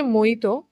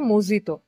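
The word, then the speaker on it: mojito: আমার একটা বক্তব্য আছে এই যে মহিত ওরা এখানে উচ্চারণ করছে মজিত একজন বিদেশী ক্রিকেটার মানে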